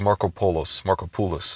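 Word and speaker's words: Markopolos: Last name is Markopoulos. That's how you pronounce his name.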